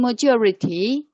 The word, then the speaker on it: majority: and majority majority and the stress is placed on the second one like and on the second syllable one two three four there are four syllables together and yes jesus is on the second syllable is placed down the second play syllable is er majority you are georgia module